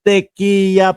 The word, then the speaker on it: Tequia: Ah si Malu Tequia. Una ho kasi nagkakamali ako doun sa pronunciation ko nung apelido niya eh. Ngayon, Teya pala 'yung ah pag-pronounce don sa kanyang apelido.